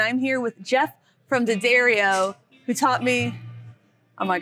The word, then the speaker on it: D'Addario: ho daddario yup i'm i'm not going to call it d'addario or diadario anymore that's great i i'm sure you've heard some really weird ones too my personal favorite mispronunciation is daddy radio i bet some people